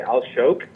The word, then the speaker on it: Alshowk: pronunciation please well I in English I would just say aloke uhhuh and then if